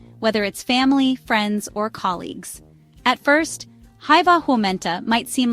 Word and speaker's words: hyvää: The first word hyvää stays the same, pronounced hyvää. The second word, päivää, sounds like päivää with the emphasis on the first syllable.